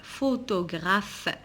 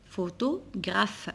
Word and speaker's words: photographe: le photographe alors ici j'ai deux ph qui se prononce f photographe photo graf alors on a deux